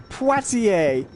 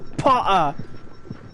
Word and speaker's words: Poitier: And Rodney looks at the TV and he goes, he says it's pronounced Poitiers. He says it's Potter.